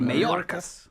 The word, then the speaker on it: Mayorkas: Mayorkas.